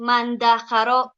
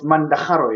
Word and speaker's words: mandaharo: So it's mandaharo, yeah, with a ha.